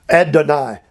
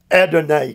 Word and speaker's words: Adonai: owner get this class ad deny adonai can be pronounced or spelled either way the lord who is